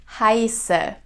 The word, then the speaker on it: heiße: in high standard German, which is pronounced like a sharp S, like in the word for snow. Ich heiße. All right, so I don't say ich heiße, but ich heiße. It's a sharp S sound.